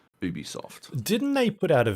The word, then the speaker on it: Ubisoft: ubisoft sorry ubisoft yeah as we learned this week it is definitively ubisoft didn't they put out